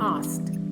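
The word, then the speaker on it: asked: എസ് കെ ഇഡി ആസ്കഡ് അല്ല ആസ്ക്ഡ് ആസ്ക്ഡ് ഇത് ഒറ്റ സിലബിൾ ആണ് ആസ്ഡ് ഇതിൽ കെ സൗണ്ട് സൈലന്റ് ആണ് ട്ടോ ആസ്ഡ് ആസ്ഡ് അങ്ങനെയാ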